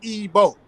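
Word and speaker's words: Igbo: out of Europe so they don't know how to pronounce ebo you see what I'm saying it's simple as as ebo right right now and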